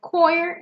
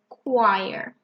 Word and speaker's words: choir: the word fire okay sometime to pronounce a knife choy or koi no it's choir okay and now we'll